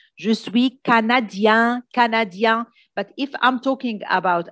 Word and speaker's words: canadien: If I want to say je suis canadien, that means finish with I-E-N, I don't pronounce the N. Je suis canadien, but if I'm talking